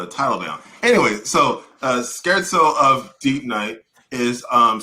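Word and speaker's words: scherzo: in a symphony or a Sonata and it's pronounced scared so skirt soap Okay cool so now it makes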